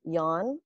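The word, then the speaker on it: Jan: a the boy's name yawn on it and it's spelled j-a-n of course in german in german they pronounce it yawn like with a y and i feel like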